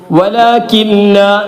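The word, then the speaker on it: وَلَكِن لَا: വലാകില്ല നൂനെ പറയുന്നില്ല. വലാകില്ല ഉച്ചാരണത്തിൽ വരുന്നില്ല എന്നർത്ഥം.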